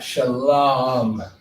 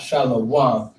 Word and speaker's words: shalom: the baby ah all right it's like that shalom not shallow all right that's not that's not how you